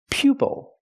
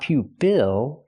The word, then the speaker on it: pupil: It's not pupil because the stress is on the first syllable. It's pupil. Pupil. And it's a student. A student can be called a pupil. Use the long u sound like you pew, pupil.